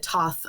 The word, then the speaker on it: Thoth: I know that some people pronounce it Toth, Thoth. You know, there's a million different pronunciations, but yeah, exactly. And there's really no right or wrong way, but Thoth is what feels best to my mouth when I'm chanting it in ritual.